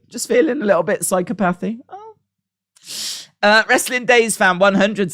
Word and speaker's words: psychopathy: It's pronounced psychopathy.